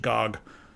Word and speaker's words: GOG: They told me, please don't say GOG or Good Old Games anymore. It's just GOG. So I was like, all right, GOG it is.